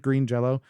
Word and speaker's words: Green Jelly: Which, did you know that Green Jello, the band Green Jello, they had to change their name so that it is now spelled Green Jelly, but it's pronounced Green Jello.